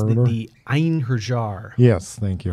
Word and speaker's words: Einherjar: the armor together that I want, which is unpronounceable. Einherjar, Ienarath. I think it's the Einherjar. Yes, thank you. Einherjar.